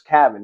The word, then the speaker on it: Cavan: my name I say my name is Kevin. It's like Gavin with a C.